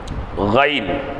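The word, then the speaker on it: غين: கைன் தொண்டையின் ஆரம்ப பாகத்தில் உச்சரித்தல். தொண்டையிலிருந்து வரணும். இதுக்கு நாக்குக்கு சம்மந்தம் இல்லை.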